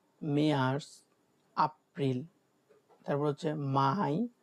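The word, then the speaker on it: Mai: মে হচ্ছে মাই।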